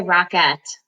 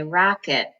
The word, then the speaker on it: rocket: Now we don't say rocket, we say rocket. So remember that first syllable has all of the accent so that any other